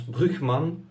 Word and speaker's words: Brugmann: dans lormont par exemple brugmann qui se prononce brickman in ni de relance en néerlandais c'est le nom d'un